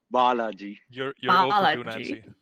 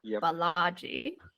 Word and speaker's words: Balaji: wanna pronounce okay go ahead avalaji it's actually pronounced biology apology not Balaji better okay thank you so much I mean